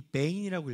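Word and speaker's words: בין: 빈이란 단어가 이 베인이라고 읽거든요. 현대 히브리어에서는요.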